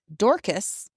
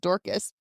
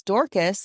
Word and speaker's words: Dorcas: She made her feature film debut in a small role as Dorcis. It is called Dorcas, but it sounds weird like dork. Like I'm calling her a dork, but it is literally pronounced Dorcas.